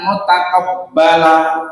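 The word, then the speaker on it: مُتَقَبَّلًا: rizqan thayyiban wa amalan mutaqabbala. Gitu. Yang terakhir waqaf, maka dibaca mutaqabbala.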